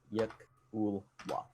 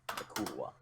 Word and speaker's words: yklwa: It's a YKLWA. That's how it's spelled. Yakulwa. Yakulwa.